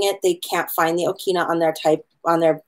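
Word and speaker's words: ʻokina: The okina is pronounced as a glottal stop.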